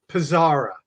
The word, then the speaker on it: PSARA: having me brenda and so how do i pronounce that akron pizzara pizzara okay sounds good so now that i